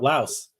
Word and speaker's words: Laos: Another one that was important was Lao or you know people often say Laos. Technically, it's actually Lao. The S is there because of the French uh influence, French colonialism.